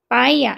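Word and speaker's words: paella: 여기가 피 발음이 아니고 빼 뿌음이기 때문에 빠이야 이렇게 하는데 이제음 영어식으로 읽을 때는 발음이파엘러라고 읽더라고요.파러 이렇게 읽죠.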